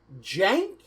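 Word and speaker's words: Cenk: buffoon sank sink hey how do you pronounce his name jank but there's there's no j how do okay okay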